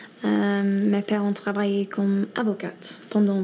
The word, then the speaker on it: avocats: Elle dit que ses parents sont avocates à la place de avocat. Là encore une fois, elle a prononcé le T alors qu'il ne faut pas le prononcer comme Margot Robbie dans Croissant, Croissante.